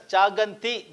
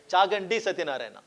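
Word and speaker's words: Chaganti Satyam: was pronouncing it as chaganti because thi but telana people told me that I should pronounce it as chagi satar so chagi satar is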